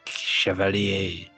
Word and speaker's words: chevalier: It's like cavalier, but à la français, chevalier.